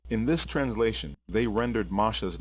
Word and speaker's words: Moshe: two it is pure Hebrew and the correct pronunciation is Masha this word is not to be confused with